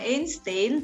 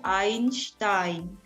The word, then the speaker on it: Einstein: terkenal tentunya Albert Einstein jadi bacanya bukan Einstein tapi IAIN STAIN Albert Einstein is in